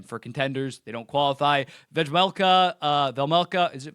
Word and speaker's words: Vejmelka: Velmelka, it's not Vejmelka, you don't pronounce the J. Velmelka, it's a top.